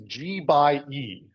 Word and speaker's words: GxE: to say it is G by E so that's what this GXE is we just pronounce it G by E and sometimes we say G by E to P we're just shorten